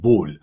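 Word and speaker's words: boule: that oh in Francais they call it is pronounced bull okay b-o-u-l-e boom there's three of them these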